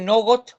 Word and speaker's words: något: Claro, puede decir nogot o puede decir not, como dice ella, ¿no?